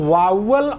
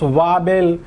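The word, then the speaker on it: vowel: आवश्यकता होती है वह वावल और कॉन्सोनेंट। बहुत से लोग इसको प्रोनाउंस वावेल, कुछ लोग वावेल कहते हैं, लेकिन करेक्ट प्रोनाउंसिएशन है वावल।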